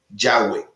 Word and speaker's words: Yahweh: Y se han hecho estudios ya más profundos de cómo sería la fonética, de cómo los hebreos pronunciarían propiamente esas 4 letras, y se ha llegado a la conclusión de que es Yahweh.